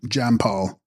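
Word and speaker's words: འཇམ་དཔལ: child in her arms and text aam depal pronounced Jamal Sanskrit manri of gentle Glory a fuller Tibetan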